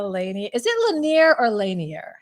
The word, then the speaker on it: Lanier: Is it Lanier or Lanier? How do you say your last name? It's Lanier because we're Lanier. in Chicago. How should you really pronounce it? It comes from the Louisiana area, so like Lanier, and I have a young niece, Darcy.